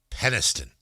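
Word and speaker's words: Penistone: P E N I S T O N E. Penniston. Are you pronouncing it correctly? I 100% am. That is how they pronounce it.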